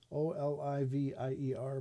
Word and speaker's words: Olivier: O L I V I E R. But it's pronounced Olivier. Like Lawrence Olivier, the old actor.